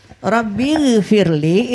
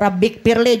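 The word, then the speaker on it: رب اغفر لي: duduk antara dua sujud rabbigfirli itu huruf gain huruf agen ya orang belajar mengaji bahari itu persis andakannya ditenggorokan rabbigfir kada boleh qalqalah kada orang baca giril magdu kada itu kada qalqalah lah jadi rbighfirli itu ya Tuhanku ampuni aku. Kalau inya k bisa mengaji bacanya rabbikfirli jadi huruf kaf. Ya Tuhanku kafirkanlah aku.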